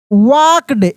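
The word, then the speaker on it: walked: ओ D food ही वाक्ड L silent है एल का ध्वनि नहीं निकलेगा वाक्ड throw T एच आर ओ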